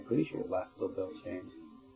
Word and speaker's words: Beltane: It lasts till I'm pretty sure it lasts till Beltane. How do you spell that? Beltane is how it's said, I say it in American, but it's Beltane in, Celtic.